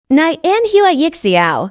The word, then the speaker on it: 拈花一笑: nenua yixia is a Chinese idiom pronounce nenua yix it means to have